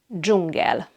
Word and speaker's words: dzsungel: It has the J sound, like in the English word jam. And the word for jungle in Hungarian is dzsungel.